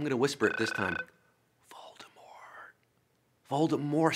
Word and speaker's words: Voldemort: Voldemort, silent T. It's supposed to be a silent T according to JK.